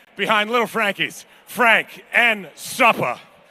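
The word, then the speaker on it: Supper: little frankie's frank and suppa which is spelled s-u-p-p-e-r but when he says it it's with an a on the end you know what i'm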